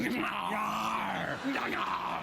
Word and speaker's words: Gnarr: Gnarr.